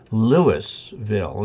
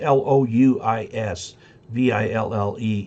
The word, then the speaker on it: Louisville: there w is l-e-w-i-s lewisville instead of l-o-u-i-s i used to live in a town called that was l-o-u-i-s v-i-l-l-e in colorado and we pronounced it lewisville rather than louisville and we could tell